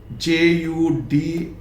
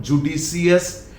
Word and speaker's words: judicious: JUDICIOUS, it is not judicious, it is judicious. Judicious. In Hindi Devanagari Lipi, very clearly I have written at the end of this either say.